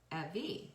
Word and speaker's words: Evie: Short E, V, Evie.